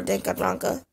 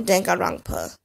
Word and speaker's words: Danganronpa: Just in case you guys wouldn't know how to spell that, or Danganronpa, or Danganronpa. It's pronounced either way.